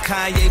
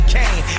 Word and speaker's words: Kanye: Now all I need is y'all to pronounce my name. It's Kanye, but some of my plastics still say Kane.